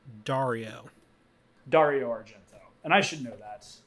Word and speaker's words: Dario Argento: you out and to tell you it it's pronounced Dario Dario Argento and I should know that and I also